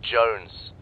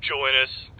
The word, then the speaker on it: Jones: Sir, for the millionth time, my name is pronounced Jones. Jones! Shut up, Joe Ennis!